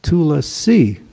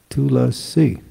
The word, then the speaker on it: Tulasi: It's Tulasi, right? The I, the emphasis is over the I, Tulasi.